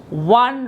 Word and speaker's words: one: the word one rupee what is the sound of o the sound of oh here is w one you're saying one